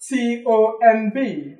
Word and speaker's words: tomb: T-O-M-B. Do you know what a tomb is? Yes. It is pronounced tomb, not tomb or tomb. There's no B in tomb.